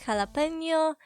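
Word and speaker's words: jalapeño: And if you know even small amount of Spanish, you will also know that you read letter J like ha. So for example, Jesus, jalapeno.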